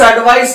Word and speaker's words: advice: यहां पे इसकी स्पेलिंग ISE है और इसका साउंड यस की तरह होता है और इसका साउंड Z यानी जी की तरह साउंड होता है। एडवाइस, एडवाइज।